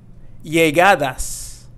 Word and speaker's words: Llegadas: Llegadas. Llegadas means arrivals. Llegadas. And as you can see here, we have the double L, so we're going to be pronouncing it as y and not L, like llegadas.